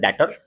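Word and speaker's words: debtor: Basically it is pronounce as डेटर, ठीक है, बट हम लोग डेटर ही बोलते हैं क्योंकि हम लोग इंडिया में रहते हैं।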